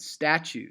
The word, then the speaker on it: statue: rising word okay and statue statue is a trochaic word it's a falling word it starts with the emphatic stat and then leads to the shorter slightly less loud - like statue okay